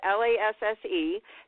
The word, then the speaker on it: Lasse: Just so if you're wondering, it's Lasse, Hallstrom, and Joe Johnston, and inspired by E.T.A.